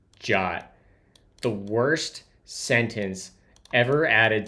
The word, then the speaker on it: JWT: The suggested pronunciation of JWT is the same as the English word jot.